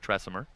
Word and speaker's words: Tresimer: Bones, I just went to the crowd and said, does anybody know how Zach pronounces his name? And sure enough, somebody knew. It's Zach Tresimer, the right-handed reliever.